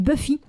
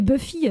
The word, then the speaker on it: Buffy: une fille qui s'appelait Buffy alors à l'époque à l'époque on savait pas comment prononcer ce motl puisque on l'avait juste vu dans le catalogue avec mes sœurs on disait bouffi oui à cause de